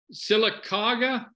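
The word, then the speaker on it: Sylacauga: lives in now tell me Ken while they're pronouncing this right silicoga Alabama yeah you did good there yeah silicon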